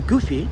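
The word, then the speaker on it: Gifu: Because when I was in Japan, that's one of my jobs when I used to go to the countryside, to Goofy. Or is it pronounced Goofy?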